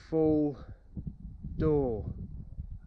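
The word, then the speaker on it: Foel Darw: Now that little hill over there is, I can't say it, it's Full Door. It's spelled F-O-E-L-D-A-R-W.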